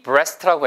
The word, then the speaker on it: breast: Turkey breast라고 해요. T-U-R-K-E-Y. Turkey breast. Turkey breast. 아시겠죠? B-R-E-A-S-T가 breast처럼 써있지만 A가 없는 것처럼 발음하시면 돼요.